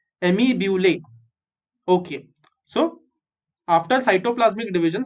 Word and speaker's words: amoebulae: Okay, जैसे फॉर्मूले होते हैं वैसे अमी ब्यूले। Okay, so repeat this word after me। amoebulae, amoebulae।